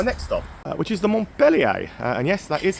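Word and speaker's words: Montpellier: come to my next stop, which is the Montelier. And yes, that is how you say it. Melier.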